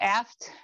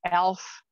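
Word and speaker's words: eft: but they have so there will be the aft. And when I was younger, I thought it's elf. And honestly, I was very disappointed when I found out that I was pronouncing completely wrong.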